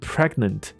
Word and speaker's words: pregnant: 他自己受孕，所以 pregnant、不是 pregnate、pregnant、没有 pregnant，对不